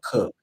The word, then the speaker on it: Coke: Edward Cook is spelled Coke, like Coke, but it's pronounced Cook.